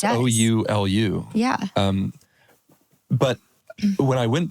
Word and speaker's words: Oulu: It's Oulu.